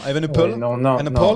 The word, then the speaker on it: Evenepoel: Non, Evenepoel. Non. Poel. Poule. Comme une poule. Parce que OE c'est ou, comme Woodpool.